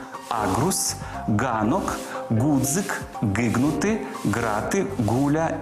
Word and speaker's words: аґрус: звуком Ґ назву найуживаніші запам'ятайте їх гава грунт агрус ґнок ґдзик ґгнути грати гуля і Дзига але